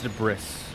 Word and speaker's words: debris: me the de bris why is the s in debris silent is it cuz it's a French word is that why let